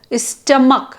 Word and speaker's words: stomach: pronounce it as schedule or stomach stomach we pronounce it at the end C but right CH we have weak forms